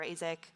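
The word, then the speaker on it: AIESEC: to a youth organization, Isaac, or Azek, as some people pronounce it, at the time, which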